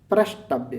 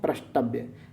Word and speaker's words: प्रष्टव्य: पृष्ठव्य नहीं बल्कि पृष्ठव्य बोलते हैं। क्या बोलते हैं? पृष्ठव्य। शुद्ध प्रोनाउंसिएट करिए। बेहतर आप पढ़ पाएंगे और बेहतर आप आंसर कर पाएंगे। तो इसे कहते हैं प्रष्टव्य। क्या बोलते हैं? प्रष्टव्य। जैसे दृष्टव्य होता है ऐसे प्रष्टव्य होता है।